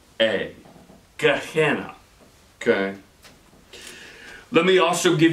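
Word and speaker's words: Gehenna: g e e h e n n a GNA g spell that again sure g e h e n n a Gana okay let me also give you a Biblical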